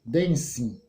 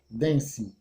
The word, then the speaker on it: dancing: vai ficar o que dancing dancing a pronúncia desse zero com ng é como se não existisse esse g eu não vou entrar